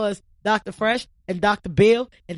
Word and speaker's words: B. Hill: bill in the H is silent alright learning on the